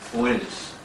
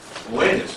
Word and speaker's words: Oannes: They had as a chief figure in their history Oannes. Oannes, and that's spelled O-A-N-N-E-S.